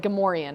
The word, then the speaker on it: Gamorrean: And it's like Gamorrean, apparently. But no, in my head... I just pronounce it Gamorrean.